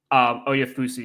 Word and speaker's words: Oyefusi: who's a Browns writer, Oyefusi, yeah, that's how you pronounce it.